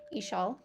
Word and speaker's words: Ixil: You were right with your pronunciation from what I can find with the sh. Ishal. Okay. I promise I'm trying. And I'm very self-conscious about it. Inkwell, ceramic plate, Izamal, Yucatan. Ixil, okay.